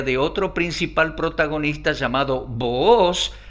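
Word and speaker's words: Booz: otro principal protagonista llamado boos algunos pronuncian boas un distinguido caballero judío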